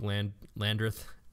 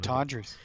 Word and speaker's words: Latendresse: So if you want to check that out, you can see that photo at Jake Landreth. Ah, man, Latendresse.